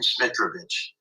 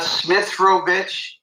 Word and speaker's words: Smitrovich: Well, I would just want to say there's only one T and there's only one H in Smitrovich. It's not Smith. It's not Smithrovich.